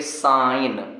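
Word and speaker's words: sign: तो जी को नहीं पढ़ना है केवल पढ़ेंगे साइन लेकिन इसमें एक लाइन और नीचे में जोर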